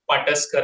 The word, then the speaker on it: Pataskar: out on Instagram it is my name pusar I'll just spell it out because it's a Indian name so